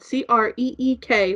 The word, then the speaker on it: creek: and she was like i hate when people call it crick because it's spelled c-r-e-e-k which is creek and i was like